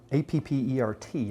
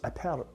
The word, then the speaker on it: Appert: A fellow by the name of Nicholas Appert, A-P-P-E-R-T, I'm trying to pronounce it like my buddy Raul would.